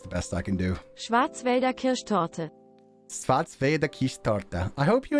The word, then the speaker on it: Schwarzwälder Kirschtorte: Okay, let me learn how to actually pronounce this Black Forest Gatto in the original language. Schwarzwälder Kirschtorte.